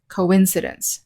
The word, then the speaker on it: coincidence: we have the word coincidence and the stress is on the second syllable coincidence when it's a